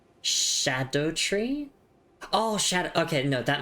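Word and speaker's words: Scadutree: But I'm just thinking Oh, notice despite the spelling schedule is pronounced like shadow. Oh, wait. Really? So like shadow tree.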